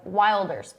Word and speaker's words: Wilders: someone new we're talking about Gert Builders and that's spelled w i l d RS like Wilders Gert Builders 53 he wants to run for